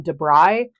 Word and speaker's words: Da Brigh: I think it was yesterday from Debry. It's spelled D- A B R I G H.